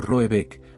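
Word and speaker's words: Råbäck: La casa solariega, o ergar, en cuestión se llamará Rabak, se pronuncia algo así como Roebek, aunque ese no es su nombre.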